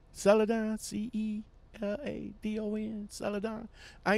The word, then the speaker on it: Celadon: gonna speak on celadon and yes I am pronouncing it right right celadon celadon see II do and I am pronouncing it